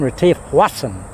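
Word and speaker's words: Retief Goosen: Retief Hussain, or Hwassan, that's his name, Retief Hwassan. That's his actual pronunciation, Hwassan. That's that South African pronunciation, Retief Hwassan.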